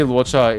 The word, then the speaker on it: Luocha: That's how they pronounce Luocha in Japanese. 为什么怪物会说话？ It actually is. They actually do try to make it sound like Luocha, but it's a different transliteration. So Luo gets translated into Ra, and Setsu is Cha.